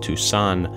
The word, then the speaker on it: Tucson: one son but two the city before the Great War however is pronounced Tucson and spelled like tuxen Tucson was the home